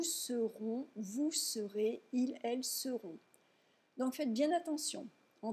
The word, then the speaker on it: seront: Si vous ne prononcez pas correctement la distinction phonétique entre sauront et seront, ça pourrait poser des problèmes.